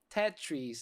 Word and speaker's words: Tetrees: Tetris, I think Tetris is how it's supposed to be pronounced, was an interesting take on a very familiar or known game, very similar style.